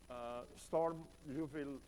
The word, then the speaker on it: Sturm-Liouville: to this concept of storm Yuval boundary value problems these are two friends mathematicians we to pronounce them with a little bit of French accent rather than German accent as I thought they are alright so we have